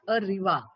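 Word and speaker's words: au revoir: Okay, that pronunciation should be like अरिवा.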